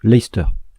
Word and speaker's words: Leicester: Ceux qui s'intéressent au football ou au rugby connaissent cette particularité de la langue anglaise, avec par exemple l'équipe de Leicester qui se prononce Leicester.